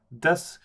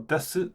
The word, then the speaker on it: desu: verbs, I should say, des or desu, of course, depending on how you say it. But of course, the U tends to be unvoiced and almost disappear because it's the end of a sentence.